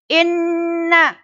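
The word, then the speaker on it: إِنَّ: Inna, nun itu agak ditekan dan didengungkan. Nah, dengungnya gimana? Sampai pada hidung. Ditekan sampai 2 harokat.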